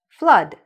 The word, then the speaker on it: flood: Or this word, flood. It's when there's too much water, right? Accumulates, you have a flood. So similarly, even though there are two O's, the sound is of a short U.